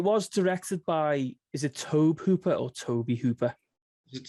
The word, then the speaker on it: Tobe Hooper: Yeah, it's because of the way it's spelled, isn't it? It's spelled like Tobe, like. Yeah. Oh yeah, but I mean, unless people just pronounce it incorrect, so usually people pronounce it Tobe Hooper.